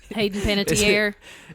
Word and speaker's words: Hayden Panettiere: Hayden Panettiere.